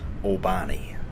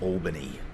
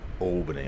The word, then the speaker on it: Albany: of you viewing is probably haven't heard of albani albani Western Australia and there'd be a lot of Australians who have not heard of albani Western Australia either because that's not how you pronounce it it's Albany Albany I just felt like saying albani it's it's